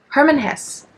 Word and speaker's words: Hermann Hesse: book I've discovered Herman Jesse how do you pronounce his name yes okay okay Hermann Hess so this is my third Hermann Hess book